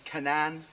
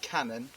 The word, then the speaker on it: Cannan: And she was murdered by a guy who thankfully got convicted, John Cannan, or Cannon, depending on how you say it.